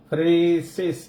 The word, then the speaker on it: phronesis: இது ஒரு கிரேக்க வார்த்தை pronounces PHRONE மேல ஒரு கோடு phronesis ஈய நீட்டி வாசிங்க phronesis SIS அண்டர்ஸ்டாண்டிங் புரிந்து கொள்ளுதல்.